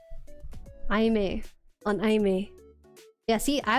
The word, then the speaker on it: Aimer: Aime. On Aime. Yeah, see, I was gonna say Aimer, but I learned that it's pronounced Aime.